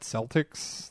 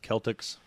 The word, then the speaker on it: Celtx: It's called Celtics. That's good. And obviously YouTube Are you sure has it's not their pronounced Celtics? CELTX Celtics script.